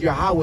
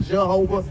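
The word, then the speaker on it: Yahweh: to say his name his name is yahwah it's not Jehovah it's not Jesus it's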